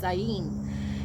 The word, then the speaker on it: ayin: this the pronunciation is ayin and that is a letter of one of the hebrew alphabets but just think of the sound it says i in so what you're seeking